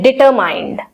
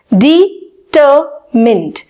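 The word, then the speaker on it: determined: कुछ इसी तरीके से हम भी इसको बोलते हैं डिटरमाइंड या डेटरमाइंड। एक्चुअली इसकी प्रोनाउंसिएशन क्या है? डिटरमिन्ड, डिटरमिन्ड, डिटरमिन्ड, डिटरमिन्ड।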